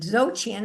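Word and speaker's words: Dzogchen: Zotchian is spelled B Z O G C H E N.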